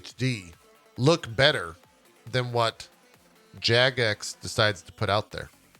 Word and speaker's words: Jagex: Is it Jagex, Jagex, Jagex? How do you say this? Everyone in chat's just saying yes. So I think they're answering the first. It's like you're saying Jagoff. It's Jagex.